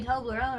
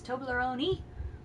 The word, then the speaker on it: Toblerone: this one is it's Toblerone you pronounce the E we all say Toblerone over here but it's Toblerone A desperate disease requires